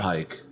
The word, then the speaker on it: Pike: Pike. Bike rhymes with Pike.